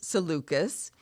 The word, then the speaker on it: Seleucus: problems with readers is oftentimes we read words and we're not sure exactly how to say it so um but it is seleucus and so basically Ptolemy